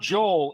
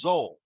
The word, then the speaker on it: Zel: So, it's not Joel, it's Zel. Zel.